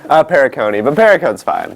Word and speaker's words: Perricone: How do you pronounce it? Perricone. Perricone, but Perricone's fine.